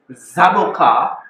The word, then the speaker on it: zaboca: that I got this zaboka to grow yes zaboka we in the Caribbean call this a zaboka not avocado no zaboka all right the original amaran name that we inherited it's called zaboka I'll spell it out